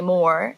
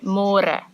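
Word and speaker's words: meer: to read more cuz in English it's spelled like more so don't say more say more and the older generations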